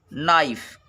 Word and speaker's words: knife: अगला देखेंगे, के बाद यन हो तो के साइलेंट होता है। एग्जाम्पल देखें, जैसे नो, KNOW। नाइफ, KNIFE।